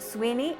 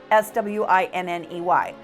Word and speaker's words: Swinney: I've heard the name pronounced Sweeney and Swinney, but it's spelled S-W-I-N-N-E-Y, Swinney.